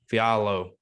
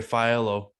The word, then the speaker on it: Fialho: Fialho. Fialho.